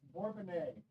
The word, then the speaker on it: Bourbonnais: yes uh Sanda yes apparently they don't know how to say it as much as we don't know how to say it it's Bourbonnais at least that's how we say it but uh my